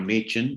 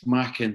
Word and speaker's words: Machin: uh dr machin i pronounced your name wrong don't worry you pronounced it the really nice scottish way well i did i did mackin yeah well yeah if i come up there i get it it's pronounced that way so that's fine well